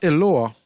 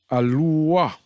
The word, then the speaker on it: Aluah: So it's not Eloah. It's A, Ayin here. Luah. Aluah. Aluah.